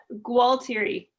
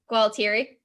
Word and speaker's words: Gualtieri: so i don't understand just pronounce it gwaltery well teary yeah okay all right